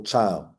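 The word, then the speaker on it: chyle: they should drain off what we call cow which is creamy white fluid or cow okay it's spelled c h y l e but it's cow and these these this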